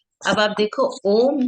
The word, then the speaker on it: ओम: आप ओम का उच्चारण ऐसे करोगे, ओ, ओम, तो अ से स्टार्ट करके आ की तरफ जाते हुए, ऊ की तरफ जाते हुए म, ये उच्चारण।